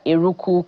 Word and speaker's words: Eruku: He's a leader, Eruku community, in Eruku community, Kwara State.